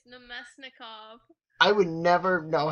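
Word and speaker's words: Namestnikov: How do you say his name? It's Nemesnikov.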